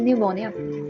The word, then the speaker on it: pneumonia: what does that mean the p is silent over here and it's called pneumonia okay this tiger was